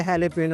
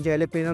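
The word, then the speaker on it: jalapeño: लोगों के प्रोनाउंस जो है हेलपिनो है लेकिन जेलीपिनो लोग कहते हैं कोई इसमें मुतायका नहीं है कि एलिपिनो कहें या जेलीपिनो कहें ये आपको मार्केट में अवेलेबल है।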